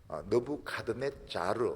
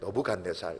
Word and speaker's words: 느브갓네살: 너부 갓네 살이라고 하는 원 발음은 너브 카드네 자르 이래 되는데 우리는 그냥 느브갓네살 느브갓네살 이렇게 부르고 있습니다이 너부 간이라는 큰 인물이